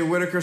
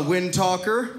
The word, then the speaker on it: Whittaker: giving my name right my name is Whittaker some people have a hard time with my last name it's a super easy name it's a British last name it's but sometimes people mispronounce Whittaker I've gotten a wind talker that's weird I've